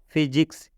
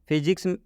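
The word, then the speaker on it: physics: समझाते हैं जैसे में फिजिक्स फिजिक्स में स्टार्टिंग में पीएच आया है इसलिए इस पीएच का उच्चारण फ हो गया है आप यहां पर देख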